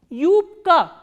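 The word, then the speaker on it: юбка: U is a combination of e kratke, which is a soft consonant, and u. U. And the word we are learning today is yupka. Yupka. Yupka is skirt.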